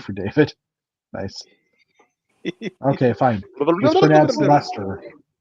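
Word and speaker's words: Leicester: David nice okay fine Lester Lester that's right not Lancaster sorry Lester I knew it was not pronounced the way that it's spelled I've learn well and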